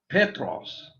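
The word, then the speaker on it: Πέτρος: how i picture this man petros notice the accent on the first syllable now one of the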